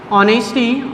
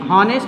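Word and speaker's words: honesty: First है, मैं सब में ऐड कर करके बता रहा हूं, ऑनेस्टी, हॉनेस्ट नहीं होता है, ऑनेस्टी होता है एस साइलेंट।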